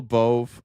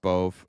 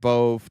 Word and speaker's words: Bove: Uh do you guys remember the name Emil Boove? I think it's it's pronounced Bove.